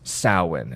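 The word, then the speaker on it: Samhain: taken from the ancient Pagan Festival known as sawen it's spelled Sam Hein yeah but it's pronounced salwan because the Celts don't like to follow rules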